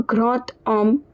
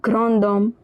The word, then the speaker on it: grand homme: So in this case this D, it will be pronounced as T. So we'll pronounce the entire word as grand homme un grand homme instead of grand homme.